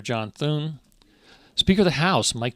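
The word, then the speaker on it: John Thune: Mitch McConnell the um get Senator John hun th sorry sorry Mr sorry Senator definitely got your name wrong so Senator John Thun Speaker of the House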